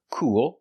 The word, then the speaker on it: cool: and cold first pronunciation cool has the long oo sound cool with a dark L and cold has the